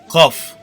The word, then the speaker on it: kaf: Ra, Z, J, Sin, Şın, Sat, Dat, T, Z, Ayn, Gayn, F, Kaf. Bu harf genel olarak yanlış telaffuz edilmektedir. G harfi ile K harfi arasında bir sestir. Ancak K harfine yakındır.